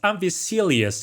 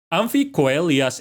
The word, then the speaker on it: Amphicoelias: Okay, that might sound really weird for you because it's usually pronounced Amphicoelias in English. But yes, as I said earlier, I'm pronouncing it with classic Latin pronunciation. Amphicoelias is sauropod from the late Jurassic.